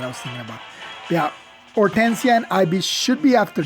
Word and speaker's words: Hortensia: Or Hortensia, although it should be Hortensia because, yeah, the name it should be Hortensia with a silent H, not Hortensia.